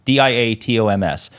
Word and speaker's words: diatoms: It's diatoms.